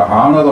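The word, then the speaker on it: honor: 영어에서 이 H자는 묵음이 되는 경우가 되게 많아요. 아워도 마찬가지고 아너도 마찬가지고 이렇다는 얘기죠. 시간할 때도 그 명예 영광할 때 아너도 역시 마찬가지. 그래서 어니스트도 마찬가지죠. 정직할 때도 그래서 이 음가에서 그놈이 죽어버린 경우라 하는 거예요.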